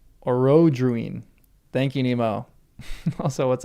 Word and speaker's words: Orodruin: I accent is on the second O. Orodruin. Thank you, Nemo. Also, what's up? Orodrun?